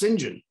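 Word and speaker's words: St. John: to pronounce these words that it was pronounced sinjin shinjin rivers and sinjin rivers wants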